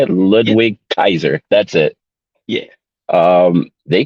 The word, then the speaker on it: Ludwig Kaiser: 2023 Royal Rumble winner Cody Rhodes versus uh Louis Kaiser is that that's how you say it Ludwig Kaiser that's it yeah um they killed it they